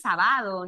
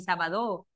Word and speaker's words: sábado: El acento está ya no en la última sílaba ni en la penúltima, está en la antepenúltima, no es sábado ni sabadó. Sábado. Está en la antepenúltima sílaba.